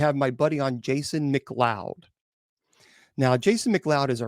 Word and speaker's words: McLeod: His last name is McLeod, but it's pronounced McLeod, and it's called Dark Siege, Connecticut's Nightmare and a Return.